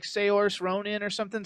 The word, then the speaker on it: Saoirse: I don't know how to pronounce her name. It's like Saoirse Ronan or something. Saoirse.